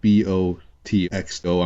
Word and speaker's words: Botxo: El Bocho, which is spelled Botxo. I'm pretty sure the X sounds like a ch.